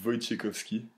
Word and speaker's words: Wojciechowski: Comment on doit prononcer mon nom? Bah, c'est plutôt simple, c'est Wojciechowski.